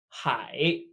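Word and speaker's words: 海: may we have ocean pronounced hi hi the idea here being that an ocean is all of the water hi just like hi in English last wait wait this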